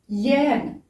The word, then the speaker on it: yeğen: Yeğen. Dans la prononciation, le E vire au I un petit peu. Mais dans l'écriture, c'est yeğen.